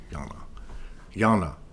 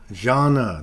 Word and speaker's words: Jana: So my thing was that, that's not how you say it. Oh God, it's one of my closest friends that I can't even say her name, for Christ's sake. Jana, that's what it is.